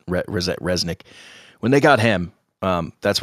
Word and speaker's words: Rzeznik: But it's when they got, I guess you say his name, Rzeznik. That's how I've always says it, Rzeznik.